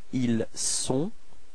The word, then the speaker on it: ils sont: So actually, this first sound, I mean, this S is the only way to dissociate être from avoir for il and elle. Okay, so don't be afraid to pronounce this S quite strongly.